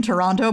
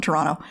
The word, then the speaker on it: Toronto: accents by the way if you pronounce the second te in Toronto people immediately know you're a tourist everybody calls it Toronto Toronto I am a